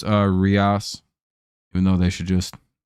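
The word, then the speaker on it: Urías: All right, so it's Rias, even though they should just fucking spell it.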